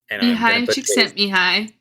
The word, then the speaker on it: Csikszentmihalyi: Mihai Csikszentmihalyi.